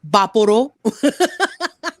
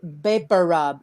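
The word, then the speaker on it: Vicks VapoRub: So there's a few pronunciations I've heard. Vaporo. But my mom's Filipino, and she says Beparub. It's all Beparub.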